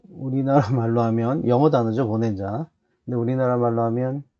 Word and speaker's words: bonanza: 어 과거에 이제 마카르니 웨스턴 서부 그걸 미국에서 이렇게 어 발표할 때 보난자라고 한국말로 번역해서 그렇게 영화가 나왔던 경도 있는데 원래 발음이 보낸자라는 발음밖에 없습니다.